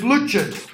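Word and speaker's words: Lutyens: Luches. That's how her name is pronounced.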